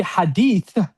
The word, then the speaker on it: hadith: It should be hadith with the tha, but some people have a hard time.